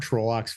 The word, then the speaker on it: Trolloc: Uh, but by the way, about Trollocs versus Trollocs, I think you're right according to the pronunciation guide. Trolloc.